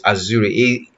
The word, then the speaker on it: Axure: I don't want to pronounce it as Azure because it will be I will be I'll be you some of you might mistake it as Microsoft Azure, so it's Azure, AXURE.